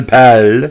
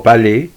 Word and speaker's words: Paille: trouble with his name marcel pall or palais depends english or a french translation now joseph marcel raja